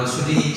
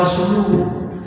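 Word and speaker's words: رسوله: Kata Nabi nggak, bukan begitu, salah kamu bacanya tuh. Karena kita nggak tahu artinya, udah pokoknya asal suaranya enak bener aja bacanya kan gitu. Padahal salah kan? Salah tuh. Tapi yang benar wa rasuluhu.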